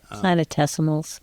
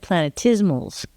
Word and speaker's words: planetesimal: Well, you said planetismals. Planetismal. Oh, thank you. Yours rhymes with dismal. Planetesimal. I like planetesimal. It's T-E-S-I, so I think it could be a tesimal, like an animal.